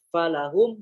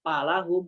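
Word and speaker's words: فلهم: Yang harusnya dibaca falahum dibaca palahum, nggak bisa.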